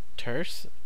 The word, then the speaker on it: turses: line Twitter client uh I think it's pronounced tur uh it's kind of like a play on the the word curse or in curse um but someone